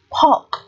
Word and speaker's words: pork: Từ tiếp theo, pork, pork, từ này là thịt lợn đúng không? Chữ O này được phát âm là âm O dài, pork, O dài, ký hiệu là sinh ngược hai chấm.